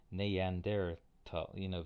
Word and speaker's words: Neanderthal: One of my other undergraduates, who was a German major, told me it was Neanderthal, very distinctly pronounced all the vowels.